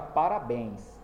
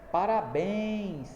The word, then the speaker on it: parabéns: Então toda vez que a pessoa pronuncia parabéns, então ela é sempre a sílaba que é pronunciada com mais força, não é?